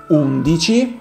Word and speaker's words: undici: As 11 in Italian is pronounced undici, you can transform the number into adjective when you place that number near a noun.